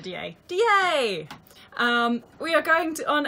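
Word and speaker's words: Deshaies: Looks like Deshaie, but apparently it's at DA.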